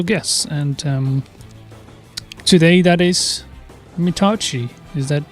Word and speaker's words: Mitauchi: And today, that is Mitauchi.